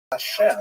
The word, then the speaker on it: Hashem: And the word Hashem, of course, is pronounced with the letter H, but there is no letter H in the Russian alphabet.